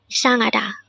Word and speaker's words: 이상하다: This is pronounced as a four-syllable word. The first syllable is I, second syllable is sang, third syllable is ha, and fourth syllable is da.